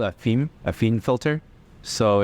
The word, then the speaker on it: phin: fin, Oh, I thought it was Finn. like Phineas and Ferb. Yeah, I thought it was Finn. No. I can't pronounce it either, but I know it's not.